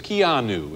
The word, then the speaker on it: Keanu: for mispronouncing your name i was saying kinu or something it's kianu yes that's correct it's an unusual name